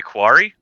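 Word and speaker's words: quori: the name cow can you help me say pronounce their name you mean the quarry quarry there you go these creatures are known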